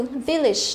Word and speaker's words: village: Thế nhưng mà khi mà nó nằm ở trong những cái từ này thì nó không đọc là age, tức là không đọc là âm a mà chúng ta phải đọc nó là âm i đúng không, âm i. Đấy, ví dụ chúng ta có từ village đúng không, village, village đều là y ngắn hết, village.